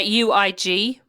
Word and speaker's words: Uig: Yeah, UIG. Not egg, as I called it. No, I did look it up and I did ask the locals, and it's Uig. Yeah, okay. Uig.